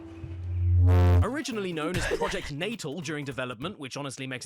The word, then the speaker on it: Natal: It's pronounced Natal.